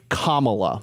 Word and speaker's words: Kamala: We do, before we leave you, we want to talk about some comments from Kamala Harris, our beloved vice president, who Kamala? It is actually Kamala, like the piece of punctuation.